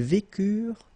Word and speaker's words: vécurent: from for the plural, ent is not pronounced phonetically, you don't get it, so vécure, okay?